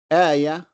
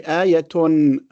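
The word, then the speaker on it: آية: And each one of them ends with a ta marbuta that we pronounce as a ha when we stop. When we continue or we connect, we say ayatun, jannatun, imra'atun.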